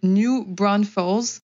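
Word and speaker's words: New Braunfels: dont ils le prononcent, je trouve que ça ne correspond pas du tout à la façon dont ça s'écrit. Mais du coup, pour vous le dire de façon un peu plus lisible, c'est New Bro, B-R-A-U-N, Fels, F-E-L-S.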